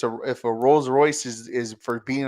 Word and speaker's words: Rolls-Royce: or Rolls-Royce and that's how you say it Rolls-Royce Rose Royce yes yeah that's the gift for